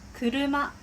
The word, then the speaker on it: 車: 訓読みは車、車、車、風車。